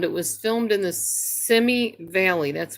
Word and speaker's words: Simi Valley: Now, the sad story is when Little House on the Prairie was filmed, it was filmed in the Simi Valley. That's how you say it, Simi Valley.